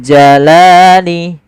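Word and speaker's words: الْجَلَالِ: Dul langsung dzul jalali. Kemudian pada lafal li ada fathah bertemu alif. Ini kita namakan dengan bacaan mad thabi'i. Panjangnya berapa? Panjangnya adalah dua harakat. Yaitu kita memanjangkan lamnya.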